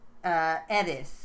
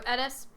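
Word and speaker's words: Eddis: And what they discuss along the way is a lot of the mythology of Edis, or Edis, as the locals pronounce it.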